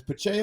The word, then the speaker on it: Pacheco: It's Pacheco. Pacheco. Check on your O's. Put some respect on my What? We got Pacheco receiving yards more than 12.5. Why do we like Pacheco to get more than 12.5?